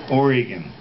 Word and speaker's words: Oregon: anywhere near that state Oregon it kind of flows out like that yeah Oregon Trail just like the Oregon Trail are you from con